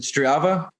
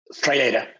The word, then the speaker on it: Strada: I'm going to mispronounce the name of the company, but is it Strava? Strada. Okay.